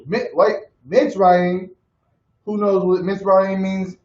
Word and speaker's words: Mitzrayim: And the sons of Ham, Cush, Mizraim. Wait, Mitzrayim.